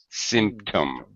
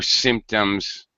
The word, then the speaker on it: symptom: word pronunciation Sim symtom symptom symptom symptom that's it symptom first syllable stress that's it okay uh